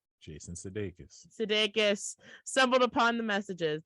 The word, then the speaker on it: Sudeikis: Jason Sudeikis. Sudeikis.